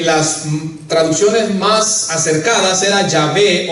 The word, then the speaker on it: Yahweh: Pero a pesar de que desconocemos su verdadera pronunciación, hermano, la mayoría de los estudiosos nos dicen que posiblemente la pronunciación sea Yahvé o Yahweh.